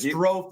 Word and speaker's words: Strofe: Alex Strofe, it is, produces our show. That's how you pronounce it.